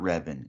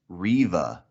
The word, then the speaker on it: Reva: okay it's not but it's not reven it's riva there's no n i've been saying it